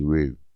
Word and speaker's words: Rue: It rhymes with doo-doo. So if you know how to say doo-doo, you know how to say Rue.